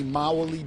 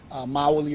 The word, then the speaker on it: Mawuli: I am attorney Mawuli of the Bozeman Johnson law firm. Mawuli is spelled M-A-W-U-L-I.